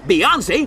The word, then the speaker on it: Beyoncé: Beyoncé rhymes with fiancé.